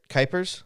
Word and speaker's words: Kuipers: So the guy you hear on the other side of the microphone is Josh, and let me say it right, Kuipers. Yes. Yes, I finally got it right.